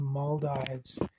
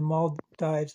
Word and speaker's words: Maldives: um and and then the Mal Dives I think it's actually moldes I I watched a video and somebody was referring to it I think as the mold so maybe I've been saying it wrong all these times um